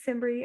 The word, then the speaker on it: Simbry: Does that help you any, Simbri? And I hope I pronounced your name right.